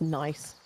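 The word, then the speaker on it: gneiss: pronounce tazar I don't know tazar nice it's pronounced nice someone's saying n some people are saying nice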